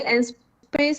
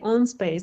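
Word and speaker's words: En-Space: We say N-Space, but it sounds a little bit like French. I think it's also it's okay to say on space.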